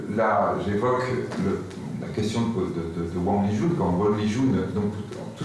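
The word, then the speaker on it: 王立军: Et cet événement, là, j'aimerais qu'on y revienne, de ces 30 heures de ce super flic, alors je crois qu'on prononce Wang Lijun.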